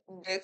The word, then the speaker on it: deque: Dalam the queue diucapkan sebagai deck atau sebuah antrian berujung